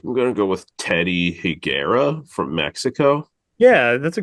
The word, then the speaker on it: Higuera: I think I'm gonna go with Teddy Higuera from Mexico.